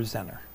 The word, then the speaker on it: Zener: of a xener diode you hear it pronounced both ways xener or zener Bravo bra yeah constant